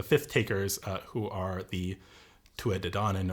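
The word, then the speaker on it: Tuatha Dé Danann: takers, who are the Tuatha De Danann, or the Tuatha De Danann in the Old Irish pronunciation, who we brought up in our last episode.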